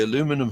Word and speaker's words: aluminum: is a aluminum H the Brit say aluminium but Americans say aluminum hul it's got some